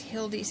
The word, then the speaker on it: Hilde: And the star is Hilde's house. There it is. There's an introduction. Hi, my name is Hilde. It rhymes with Buildy.